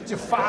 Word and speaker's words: Jafar: And that makes me like Jafar. You're okay. I didn't mean to say it like Christopher Walken, but It's Jafar. that makes me like Jafar.